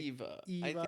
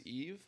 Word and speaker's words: EVE: also be like Eva? I I think it's both. I would I know her name is Eve but I call her Eva.